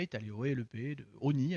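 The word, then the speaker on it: Osny: allé au LEP de Oni à l'époque. Oni, c'est dans le Val d'Oise, pour ceux qui ne savent pas. C'est écrit qu'un S qui se prononce pas, O-S-N-Y.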